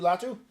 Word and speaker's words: Latu: out of UCLA I went to loua oh latu latu yeah was that how you say it yeah